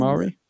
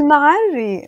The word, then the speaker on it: Al-Ma'arri: Are I feel you like aware this of is Al-Mari? Almari. Maybe you are pronouncing I it might be weird, pronouncing it wrong, and that's only part of his name.